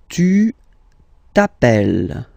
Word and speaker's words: t'appelles: Second form, tu t'appelles. Okay, remember, final S not pronounced.